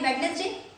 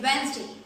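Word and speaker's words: Wednesday: ये जिसमें जो डी लिखा हुआ है गाइस, इसको नहीं पढ़ना है, वो साइलेंट है, तो इसको हम पढ़ेंगे वेंसडे।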